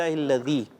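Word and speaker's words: الذي: کوشش کر لیں کہ اس کی تلفظ بھی ہمارے ہاں ادائیگی پہ آپ تھوڑا سا توجہ فرمائیں. الحمدللہ الذی اطعمنا.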